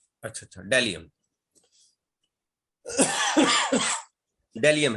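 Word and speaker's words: bdellium: हाँ जी, डेलियम फिर B silent होगा। अच्छा अच्छा, डेलियम डेलियम है जी।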